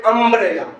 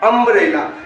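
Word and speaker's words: umbrella: क्योंकि इसका उच्चारण क्या पढ़ते हैं? यूनिवर्सिटी, इसलिए यहाँ पर ए लगा है। इसको पढ़ते हैं अम्ब्रेला, अम्ब्रेला, इसको क्या पढ़ते हैं? अम्ब्रेला।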